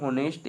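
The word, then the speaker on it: honest: ठीक है, जैसे कि एन होनेस्ट, यहाँ पर जो एच है दोस्तों ये क्या हो जा रहा है, साइलेंट हो जा रहा है।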